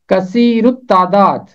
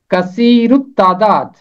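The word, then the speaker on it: کثیر التعداد: इसका तलफ़ुज़ है कसीरुत तादाद, कसीरुत तादाद। हवाला है, इसराइल की औलाद बरोमंद और कसीरुत तादाद और फरावां और निहायत जोर आवर हो गई और मुल्क उनसे भर गया। कसीरुत तादाद, इसका मतलब है तादाद में ज्यादा, अक्सर।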